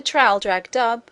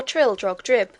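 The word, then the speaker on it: Traldragdubh: It contained a warrant for conducting me and my retinue to Traldrag Dub, or Trildrog Drib, for it is pronounced both ways as near as I can remember, by a party of 10 horse.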